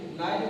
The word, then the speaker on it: night: उच्चारण नहीं करते हैं, एग्जाम्पल जैसे उदाहरण NIGHT, यहाँ GH साथ में आया तो GH को नहीं पढ़ेंगे, तो हमारा हो जाएगा नाइट मीन्स होता है रात।